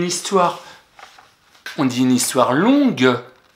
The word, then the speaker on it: longue: On dit une histoire longue. Le son gueux s'écrit avec un G. C'est pas une histoire longe, c'est une histoire longue.